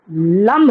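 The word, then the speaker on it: लं: यहाँ लम, यह humming sound जैसे नाकों से या मुझसे आता है, लम लम वम, ऐसे।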